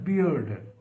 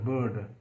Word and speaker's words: beard: pride in their flowing beard beard be e b a r d not it will not be pronounced as bird because if you pronounce